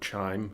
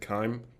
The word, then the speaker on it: chyme: an acidic pH, then that's called chyme, or chyme, however you pronounce it. I pronounce it chyme.